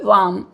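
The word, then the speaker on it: warm: देखो इंग्लिश में are sound को जनरली प्रोनाउंस नहीं किया जाता है, यदि करते भी हैं तो बहुत स्लाइट, बहुत जरा सा करते हैं। तो यहाँ पे ये हम लोग इसको वार्म नहीं बोलेंगे, क्या बोलेंगे? वार्म।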